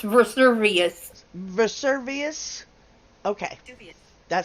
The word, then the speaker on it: Vesuvius: It's pronounced Vesuvius.